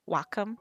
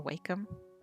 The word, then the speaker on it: Wacom: that um to draw on i use a wacom or wacom not sure how people like to pronounce that i use a wacom cintiq 22.